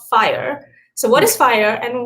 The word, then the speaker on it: FHIR: thing you have to know is how to pronounce it fire um but what fire is is really just